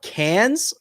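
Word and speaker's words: Cairns: then we're going to Cans I believe is how they pronounce it which is up in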